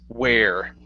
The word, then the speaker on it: wear: crazy part about English even though this one here is gear this one is wear okay so uh you